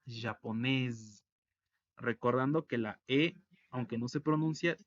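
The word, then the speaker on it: japonaise: y agarra sonido y como es entre dos vocales se pronuncia como una zeta japonés y en plural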